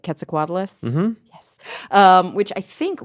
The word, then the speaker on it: Quetzalcoatlus: Maybe they've heard of, tell me if I'm pronouncing it right, Quetzalcoatlus?